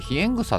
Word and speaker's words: 冷え草: これ、ヒエングサって読むんだ。